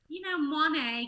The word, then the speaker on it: Moinet: You would sound so bougie if you introduce yourself as Danielle Moinet. Moinet, get it right.